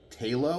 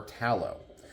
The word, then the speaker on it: Talo: If I ask people on the street, how do you pronounce that? I'm sure some people might say Talo. Some people might say Tallow. Does it really matter?